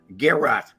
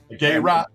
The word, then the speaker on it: garrote: I've heard Southern people say garrot, garrot. Garrot. Yeah, they don't pronounce it properly, but it's garrot.